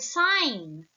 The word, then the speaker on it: sign: digraph correct how about the word sign sign correct there are no digraphs here the letter g is a silent letter here amazing couch couch ch